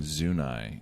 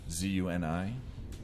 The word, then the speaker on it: Zuni: telling me that uh we've all been pronouncing zunai incorrectly how do you spell zunai z-u-n-i yeah so i mean it could very well be zuni but then people look at you if you say that like you're an idiot yeah i'm pretty sure it is zooney yeah so everybody sounds